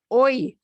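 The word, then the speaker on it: hoy: H, you have to know we spell it with an H, but we don't pronounce that letter. So you're going to pronounce the O first in this word, oi.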